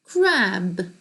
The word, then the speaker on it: crab: crab은 무슨 발음이에요? 꽃게죠? 꽃게는 아니에요. 그냥 게. 바다에 사는 게. 그치? 근데 여기서 crab이 B가 아니라 P면 큰일이죠.